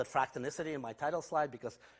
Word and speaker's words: fractonicity: matter I called it fractal Missa tee in my title slide because fractal Missa tee nicely rhymes with elasticity so the kind of